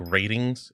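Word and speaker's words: RTINGS: by they they uh it's like ratings is how it's pronounced. I just call them Rings just cuz ratings it's missing the you know other aspect to it.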